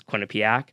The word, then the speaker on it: Quinnipiac: I didn't even know how to pronounce it at the time, but turns out it was Quinnipic.